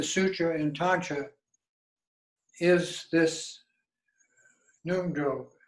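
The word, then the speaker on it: Ngondro: But the basis of all of the sutra and tantra is this Nungjo. It's spelled Ngon, second word DRO, which is called the foundation practice of Tantra.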